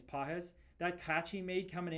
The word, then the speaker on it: Pages: Pah or pages. They say his name is Pahz.